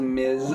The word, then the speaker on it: Ms: that one's funny the thing is it's pronounced Miz oh whatever Ms Ms